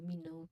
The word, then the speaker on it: menu: Of course, you'll often ask, "Do we see the menu, please?" When you pronounce it, remember those two syllables. Men-u, M-E-N plus Y-O-U. Men-u. The second part syllable sounds like the pronoun you.